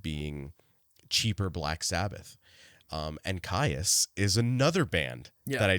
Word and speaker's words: Kyuss: So I looked that up and was, happy to learn that it's kyuss and not kyuss, which I thought it was.